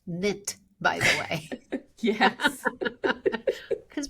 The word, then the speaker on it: NIIT: It is pronounced NIT by the way.